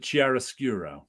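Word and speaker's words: chiaroscuro: Mis about mispronouncing fix cheris skuro now that's how we say it in art class just like clear obscure an art class we always called it Chiara skura I don't know if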